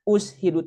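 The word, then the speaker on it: أُشْهِدُ: Ushidu itu di lebu. Bukan be ya. Kalau ashadu aku bersaksi. Kalau ushidu dipersaksikan gitu loh, Bu.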